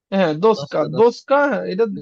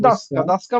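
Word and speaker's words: доска: এখন আপনি দোসকাই বলেন সমস্যা নেই। দোসকা। কিন্তু অরিজিনাল উচ্চারণ ডাসকা।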